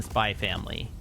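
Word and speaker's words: Spy × Family: Yeah, you do not pronounce the X in Spy Family.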